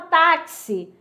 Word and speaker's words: táxi: Aí na palavra táxi tenho quatro letras, mas eu tenho cinco fonemas.